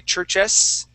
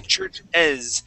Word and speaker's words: churches: Okay, so that S at the end won't sound like an S. We won't say churches. We say churches with more of a Z sound, churches.